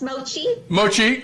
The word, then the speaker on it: mochi: And Christine, I hear that your Mochi donuts, did I pronounce that right? It's Mochi.